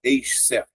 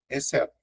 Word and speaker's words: exceto: porque aqui, ó, ah, você não fala excet, você fala exceto tá vendo? É um único som, ó.